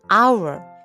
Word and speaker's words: hour: Iam an umbrella an hour 여기 보시면 h 아아 h 자음이 h 무음이에요 소리가 안나요 그래서 실제 소리는 our